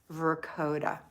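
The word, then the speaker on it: Verchota: hard so i'll remember vercota okay so the ch is like a k got it misty kester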